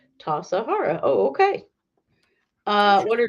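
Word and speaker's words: Tassajara: the is bread interesting tasahara bread book recipe pronounced tasahara oh okay uh what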